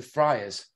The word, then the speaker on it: Friars: friars? No, Well, it's spelled Friars. Yeah, but have you heard of Friar Tuck?